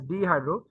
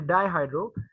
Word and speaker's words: dihydro: things and dihydro testosterone I'm sorry I was pronouncing it as dehydro it's basically dihydro dihydro testosterone is involved in